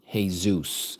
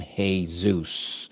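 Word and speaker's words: Jesús: him a Greek name, Hay Zeus, as our Spanish-speaking brothers and sisters call him. They call him Hay Zeus.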